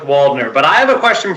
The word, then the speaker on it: Waldner: And Nick, is it Waldner or Waldner? Like, do you go with the whole German pronunciation, or do you go just with the W? We don't go that German. We just go with Waldner.